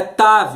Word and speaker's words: tav: tav vav, que alguns você pode pronunciar como um tal ou como tav. Em se tratando da língua hebraica, nós falamos tav, uma vez que tav